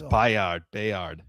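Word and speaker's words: Byard: I'm not sure how you actually pronounce it. We'll figure that out before the season starts. That's for sure. It's Bayard.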